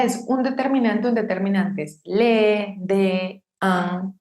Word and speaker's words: deux: Por ejemplo, il a deux enfants. Si yo tengo la palabra de sola, esa X no se pronuncia. No digo deux, sino de.